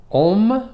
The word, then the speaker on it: om: as the pronunciation goes om which is pronounced a-u-m don't think o-m think a-u-m um gum just like